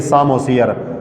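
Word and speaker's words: psammosere: फिर हम लिखेंगे सामोसियर, पी हम लिखते हैं लेकिन पढ़ते नहीं हैं, साइलेंट है।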